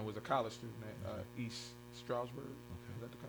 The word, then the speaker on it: East Stroudsburg: Brianna was a college student at East Stroudsburg. Is that how you say it? East Stroudsburg University.